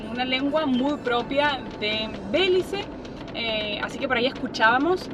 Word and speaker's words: Belice: Vamos a recorrer Belice, que buscamos si era Belice o Belice o Belice, no sé, pero es Belice. En español y en inglés se escribe con Z, así que por eso lo pueden ver con la C o con la Z.